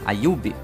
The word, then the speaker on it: Ayub: Ayub, essa é a pronúncia certa, o famoso Monark.